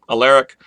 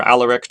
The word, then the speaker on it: Alaric: The Visigothic king, Alaric, or Alaric, depending on how you want to pronounce it, leads his Visigoths down